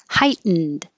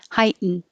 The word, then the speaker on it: heightened: sentimental or senamenol notice heightened so i'm not making you can say the t you can say hi ten or no t heighten heightened you would hear the